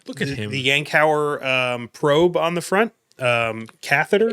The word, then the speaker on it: Yankauer: the Yankauer probe on the front, catheter, Yankauer Yeah. catheter, Yeah, I've heard it pronounced Yonker, Yonker. but Yankauer, Yonker. Well, it's I made sure